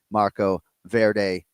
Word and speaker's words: Marco Verde: It's our pronunciation of the week. Marco Verde Canflow.